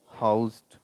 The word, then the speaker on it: housed: uh when uh we use as a verb then the sound will be Z housed.